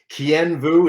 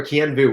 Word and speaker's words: Kien Vuu: because Kien Vuu is sometimes hard to pronounce for people. So Dr. or Kien Vuu, whichever you like.